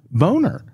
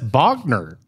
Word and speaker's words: Bogner: it says right there boner and she says that's not boner that's Bogner oh but his as